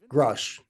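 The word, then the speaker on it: Grusch: believe that David I don't know how to pronounce his last name k k Crush grush grush yes I think he's telling us the truth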